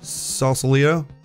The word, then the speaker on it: Sausalito: We had in San Fran we had 3 in Sausalito.